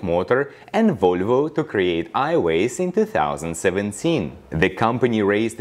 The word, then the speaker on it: Aiways: and plans further expansion highways i think is the appropriate pronunciation but their website link actually reads as ai dash ways which can also give